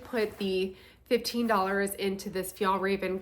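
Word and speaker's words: Fjällräven: so I did put the $15 into this FAL Raven kin bag is how you say it um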